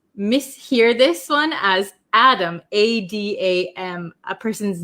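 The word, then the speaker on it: at 'em: We say Adam, Adam. It becomes a flap T, so it sounds like a D sound. Up and Adam, up and Adam, up and Adam. Okay, so up and Adam means that you are ready for the day.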